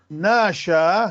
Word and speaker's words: ناشا: ناشا. شوف ألف عليها هذه الشارحة المائلة، معناها أنه هاي ما تلفظ هذه.